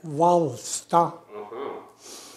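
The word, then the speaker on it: Hvalstad: I am born at Valsta. Could you spell it? H-V-A-L-S-T-A-D. Could you pronounce it again? Valsta.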